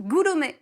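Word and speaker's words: グルメ: Et il y a aussi le manga dit gastronomique, Gurome manga. C'est comme un gourmet. Pour le en coup, fait. c'est vraiment Voilà. gourmet. Oui, C'est le mot gourmet prononcé à la japonaise.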